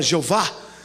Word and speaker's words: Jeová: Então esse Deus não é o Elohim, não é o El Shaddai, não é o Jeová, que não se pronuncia o H, é um sopro, amém? A gente fala Jeová.